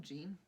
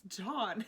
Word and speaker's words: Jean: Did you just call him Gene? Oh my gosh, yes, I did. His name is not Gene. It's spelled Gene. It's John.